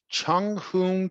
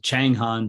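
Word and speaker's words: Chang Hon: pronounce all of this Chung Hoon TI quando 42 years it's a chang Han Taekwondo yeah oh Chang Han Taekwondo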